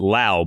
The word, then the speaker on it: Lowe: Josh Lowe, that's how you say his last name, Lowe. And then Brandon Lowe, you pronounce it Lowe.